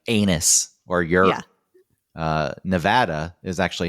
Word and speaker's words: Nevada: doesn't it's not anything like anus or uh Nevada is actually how you pronounce the state, not Nevada.